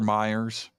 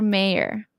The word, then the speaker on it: Mayer: how i'm reading it i'm reading it exactly how it's spelled but it's pronounced meyer but it's spelled mayor ah that was that